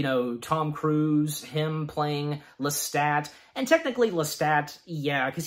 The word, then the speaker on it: Lestat: Gotta keep that in mind, how his name is pronounced. Lestat.